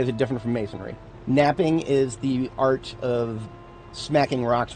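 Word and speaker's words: knapping: Pronounced just like it would be pronounced without the K.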